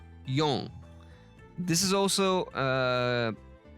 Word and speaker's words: 四: don't know the kanji, but who know the pronunciation, you might get I'm giving you a clue. 4、 Yon. This is also called as shi.